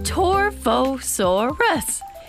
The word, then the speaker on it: Torvosaurus: You say my name, Torvosaurus.